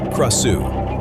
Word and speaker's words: Krasue: In Thai, she is called Krasue, pronounced Krasue.